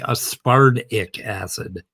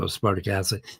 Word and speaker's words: aspartic acid: And if you pronounce, and don't say aspartic acid, like a wood tick, say aspartic acid, like damn, and that's a D. So aspartic acid.